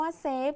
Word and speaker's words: เซฟ: เซฟ เห็น ไหม คะ คำ ว่า เซฟ จะ มี ฟ ฟัน เป็น ตัว สะกด เสียง พยัญชนะ ท้าย ก็ จะ ออก เสียง เหมือน ตัว บ ใบ ไม้ นั่น เอง ดัง นั้น